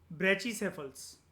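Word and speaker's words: brachycephal: एक रेस है जिसके बारे में नॉर्मली आपने शायद से नहीं सुना होगा, वेस्टर्न ब्रेचिसेफल्स। इसकी प्रोनाउंसिएशन होती है ब्रेचिसेफल।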